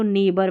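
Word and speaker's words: neighbour: इसको नेबर पढ़ेंगे, नेबर, तो GH इसमें भी नहीं पढ़ा गया।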